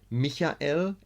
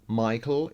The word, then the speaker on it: Michael: So we pronounce Michael in German, Michael in English, Michel in French.